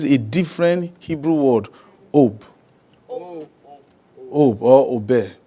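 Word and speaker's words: אוב: Ob or obe. It is spelled O-B, but it is pronounced O-B-E.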